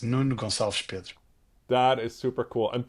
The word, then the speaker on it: Nuno Gonçalves Pedro: Oh, well, my name is Nuno Gonçalves Pedro. Nuno is a very Portuguese name, Gonçalves, I guess, as well. And so, yeah, that's the proper pronunciation of it in Portuguese.